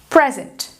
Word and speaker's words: present: Terceiro exemplo. Present. Present. Sílaba forte. Pre, certo? Present. Present. Sílaba fraca. Zent. De novo, esse E é reduzido ao schwa, e ele serve de ponte entre o S e o N, ok?